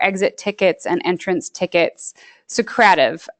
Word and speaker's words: Socrative: And Josie perfectly introduced for exit tickets and entrance tickets Socrative, Socrative. Some people say I go off of the Socrative seminar pronunciation, so apologies if you already use this and pronounce it differently.